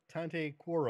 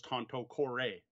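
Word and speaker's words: Tanto Cuore: through the video you started calling the game tante core Oh all right I apologize chronic command to be honest when I first learned the game I thought it was ponte corps oh that's how i pronounced it when I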